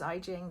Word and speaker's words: Ijing: By the way, my name is Ijing. That's like Beijing pronounced with an I.